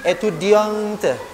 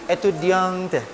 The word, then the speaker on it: étudiante: Adalah seorang perempuan, maka di akhir étudiant itu dibubuhkan huruf E, maka dibacanya je suis étudiante. Je suis étudiante.